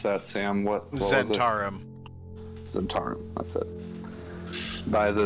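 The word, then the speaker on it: Zhentarim: here by the I keep forgetting how to pronounce that, Sam. What was it? Zentarum.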